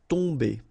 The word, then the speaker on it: tomber: Okay, so remember, you've got O-M here, but after that you've got a consonant, so it does mean that this combination of O-M will give you the sound on. Okay, you don't pronounce the M at all, so it's really a nasal, so it goes in your nose.